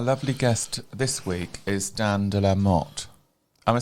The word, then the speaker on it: Dan de la Motte: Our lovely guest this week is Dan de la Motte.